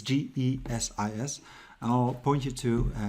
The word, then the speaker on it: GESIS: We're using the portal called GESIS, or however they want us to pronounce it. It's GESIS.